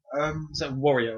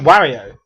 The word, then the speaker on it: Wario: and there's like one for like a year Warrior or something you mean Wario Wario no one's an American pronunciation okay um Black Flag is coming out